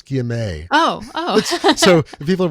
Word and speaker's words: guillemet: It's not, I'm saying guillemot. That's actually a kind of bird. It's guillemet.